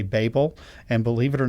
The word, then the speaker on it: Babel: That's how a lot of Americans say it. I just want you to know, I understand in different places in the world they say Babel, and believe it or